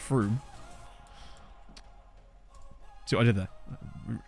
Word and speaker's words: Frome: I guess I could call it Frome, couldn't I, instead of Froome?